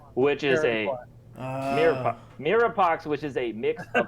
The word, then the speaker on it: mirepoix: A mix of mirepoix, which is a mirepoix, which is a mix of Mirepoix. It's Mirepoix. I've never seen it before, but apparently. How do you say it? Mirepoix. It's French. It's like Mirepoix.